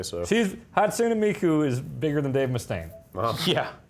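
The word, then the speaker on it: Hatsune Miku: that you've been to Hots Miku man say it right hot hatsun hotsun Miku Miku hatsun Miku there you go okay 15 bucks huh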